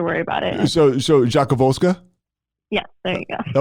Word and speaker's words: Rzadkowolska: don't have to worry about it so so Jacques volska yeah there you go that was pretty good